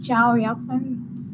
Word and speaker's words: Chao Yafen: This is Ciao. pronounced as Chao Yafen. I don't know. This is a Chinese name, that's why it is pronounced like that.